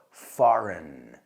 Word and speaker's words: foreign: Y cuidado con la pronunciación de eso, foreign. He lives in a foreign country. No foreign, foreign.